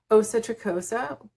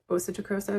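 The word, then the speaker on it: Åsa Tricosa: I'm not sure if she's from there, but anyways, European designer named Asa Tricosa. It's spelled ASA, but with the umlaut on the top. So Asa Tricosa instead of Asa Tricosa.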